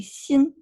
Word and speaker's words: Xin: name, the first syllable, the Xin is, we pronounce it pretty close to the way it is, right? Shin? Yeah. Um So I prefer to go by Shin because the sh uh the English tongue can pronounce it, but Right. it's actually in between s x is actually in between an sh and an s, Oh, so it's actually Xin.